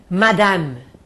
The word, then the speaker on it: madame: Madame, acaba no M. Eu escrevo mas não pronuncio.